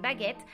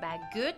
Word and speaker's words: baguette: de pronunciarse e pero si sigue después una doble consonante como es el caso en baguette el sonido de la e se cambia por el sonido e entonces no es bagut es baguet tenemos igual